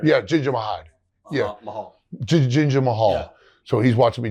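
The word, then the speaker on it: Jinder Mahal: Ginger Mahad. You know the guy. Yeah. I don't know how to say his name. Ginger Mahad, right? Yeah, Ginger Mahad. Yeah. Mahal. Ginger Mahal.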